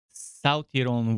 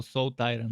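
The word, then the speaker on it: Salt-Iron: The land bears a long and scarred history that includes the South-Iran War, a war that erupted over control of salt and iron. So salt iron, I guess, is the better way to pronounce it.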